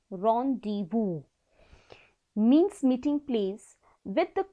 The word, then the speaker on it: rendezvous: Rendezvous, pronounces rendezvous, means meeting place with the comet, and detonation means exploding of the payload.